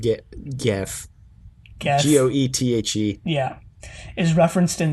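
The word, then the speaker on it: Goethe: name go go go get i think it's pronounced get gaff g-o-e-t-h-e yeah is referenced in the episode but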